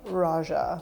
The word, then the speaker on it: Roja: I believe Raja pronounces his own name Raja, so do with that what you will.